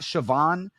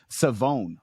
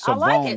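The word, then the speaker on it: Shavon: Uh, and he specifically said it's not Siobhan, it's Savone Rebel. So, you kind of you kind of take out the H. Yeah, you kind of take out the H and emphasize the O. So, it's Savone Rebel is kind of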